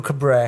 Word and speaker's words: Cabret: C'est les prénoms que j'ai un peu plus de mal parce qu'il le prononce vraiment Hugo Cabr. Hugo Cabr.